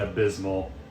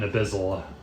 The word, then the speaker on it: Abyssal: It roars back in Abysmal. Oh! An Abyssal. That's how you pronounce it.